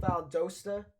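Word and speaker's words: Valdosta: Um, so yeah, uh, pronounced Vald Dosta.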